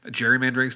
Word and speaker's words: gerrymandering: Gerrymandering's been around since. Although I say gerrymandering, another fun fact, pronounced gerrymandering because it was named after a man, Mr. Gary, from I want to say Connecticut, maybe Rhode Island.